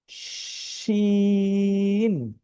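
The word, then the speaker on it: شين: বাংলায় একটি শব্দ আছে তালব্য স, এই স এর মতো উচ্চারণ হবে, এখানে দীর্ঘিকার ন দিলেই শিন, শিন।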